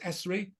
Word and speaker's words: Essery: You can see Essery Farm, as it is pronounced Essery, just here.